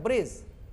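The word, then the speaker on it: bridge: प्रायः यहाँ डी को ड की तरह हम नहीं बोलेंगे। इन ब्री ड जग, ऐसा ब्री ड, ऐसा नहीं। ई ए ड जग, ऐसा नहीं। आप बोलेंगे डी को साइलेंट करके ब्रिज, एज, हेज, बार या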